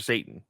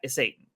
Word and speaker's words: Satan: Satan from um yeah is it Satan or satin when they pronounce it in the show though I'm pretty sure it's Mr Satan is it Mr Satan